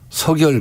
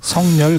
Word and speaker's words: 석열: 명박산성에 이어서 서결 가벽. 국민과의 소통을 단절하겠다. 이런 거거든요. 성렬 가벽. 예. 정확한 발음은 예. 서결입니다. 서결입니까? 이게 표준 발음이고요.